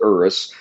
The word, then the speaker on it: Urus: It's uh that's how you pronounce it, Urus.